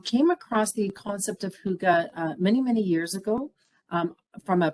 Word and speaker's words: hygge: It's Hygge.